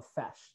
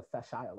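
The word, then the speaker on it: Fèis: festival on isla called the fesh the facile or feshio depending on who who you have pronounced it for you um this this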